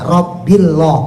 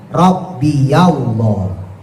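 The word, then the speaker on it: ربي الله: Nah, berhubung ketemu alif lam, maka dia enggak bisa dibaca rabbillah, enggak bisa. Makanya harus diberikan harakat fathah, harakat yang paling ringan. Makanya dibacanya rabbiyallah, wahai Tuhanku, yaitu Allah.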